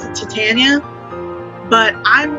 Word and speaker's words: Titania: be, or at least her name is supposed to come from the Titans, like the predecessors of the Greek and Roman gods, Titans. So her name would be Titania. But I keep seeing it pronounced Titania, and I don't know